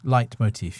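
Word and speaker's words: leitmotif: Tivo late motive light I've heard it is pronounced light motif yeah okay he went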